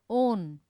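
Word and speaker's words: -one: ठीक है, प्रोपेओन, ब्यूटेओन, वन मत बोलना ON की मैम ये तो वन है, नहीं बोलते टाइम प्रोनाउंसिएशन हमें क्या करनी है, ओन, ब्यूटेनोन, प्रोपेओन। ठीक है, इस प्रकार से तो क्या है, ओन।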